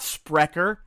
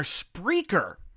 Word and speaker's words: Spreaker: mispronouncing the name of the host it's not sper they're spraker that is how they pronounce it themselves and again I still say